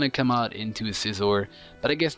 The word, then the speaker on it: Scizor: It's not pronounced Scizor. I've been pronouncing it Scizor as a child, but now it's pronounced Scizor.